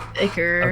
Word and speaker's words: ichor: Ichor? I've always think Ichor. But is it? I always is thought it it? was Ichor. It's Iker. Okay. I think. I've heard it pronounced.